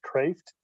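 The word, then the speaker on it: Cræft: No, I'm reading a book right now that's called Craft, but it's spelled with a diphthong, the AE diphthong, so it's actually pronounced Craft.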